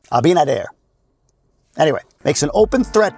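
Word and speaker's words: Abinader: Abinad. I always say his name wrong. Abinadair.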